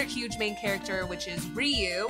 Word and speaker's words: Ryu: main character which is Ryu which I found out when working with you that that is how you pronounce it Street Fighter so we